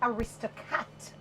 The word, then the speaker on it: Aristocat: of five boats that shower operates under the aristocat tours yes right did I pronounce that properly you did you did you